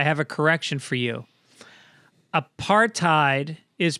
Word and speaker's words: apartheid: by the way destro it's apartheid if you really want to say it right that's what south africans say apartheid do they really say